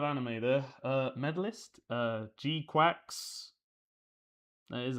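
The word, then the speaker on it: GQuuuuuuX: Uh Gquax, that is how you pronounce it.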